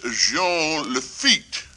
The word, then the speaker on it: Jean Lafitte: Some of us took part in very historical events, such as Jean Lafitte. A Frenchman, you see, I use the French pronunciation, the way you say it.